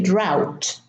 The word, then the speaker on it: drought: In drought, we have an AU and we have a T, but the AU are pronounced differently. So we say drought.